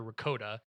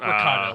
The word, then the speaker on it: Ricotta: the um the very the fallout boys singer stand in hummel yeah and stereotypical little girl character ricotta not ricardo like the cheese but ricotta because it's definitely spelled